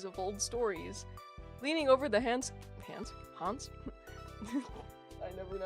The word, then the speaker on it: Hans: He went to go hide Hans like Hans from Frozen. Yeah, I'm like when I hear people talk about Hans Christian Anderson, I hear them some people pronounce it as hands and I'm like, ah, okay.